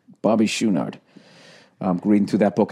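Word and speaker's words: Chouinard: Oh, by the way, his drummer, I guess, is pronounced Schoonard. Bobby Schoonard.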